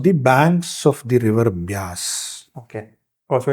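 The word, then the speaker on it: Beas: after vavas vas became basas they pronounce it as Bas you know V and B are interchangeable in Hindi right so uh it's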